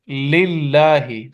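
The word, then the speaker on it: لله: we will pronounce it muraqqaqa, just like lillahi.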